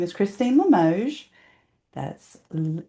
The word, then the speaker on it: Limoges: Her name is Christine Lamoge. That's L I M O G- Ess. Nobody knows how to spell it or say it.